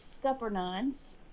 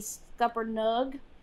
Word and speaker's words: Scuppernong: scuppernuge jelly all my life i've called these scupper nuns so i looked up the um pronunciation it's supposed to be scuppered nugg jelly so if i say it wrong i'm